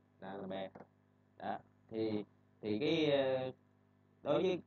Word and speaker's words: D'Alembert: Cái này mình đọc là giống tiếng Việt đó, mình đọc là D'Alembert. D'Alembert. D'Alembert.